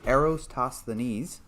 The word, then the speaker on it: Eratosthenes: All right, so someone says the correct way to pronounce it is Eratosthenes.